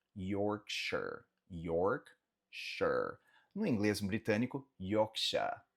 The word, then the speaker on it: Yorkshire: Então, essa cidade aqui falamos Yorkshire, Yorkshire, Yorkshire, Yorkshire. No inglês britânico, Yorkshire. Lembra que esse R no final no inglês britânico eles não pronunciam é realmente aqui, ó.